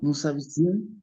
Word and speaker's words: nous habitions: Como el verbo empieza con H y la H no suena, se junta la A con la S que anteriormente no pronunciaba. Entonces, ¿cómo me queda, José? Nu. Nous habitions.